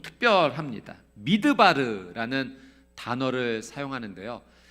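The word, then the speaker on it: מִדְבָּר: 미드바르라는 단어를 사용하는데요, 이 광야와 같은 어근을 사용하는 단어가 하나 더 있습니다. 그것은 말씀이라고 하는 다바르라고 하는 단어예요. 그러니까 같은 어근을 쓰니까 발음이 비슷하죠. 미드바르, 다바르.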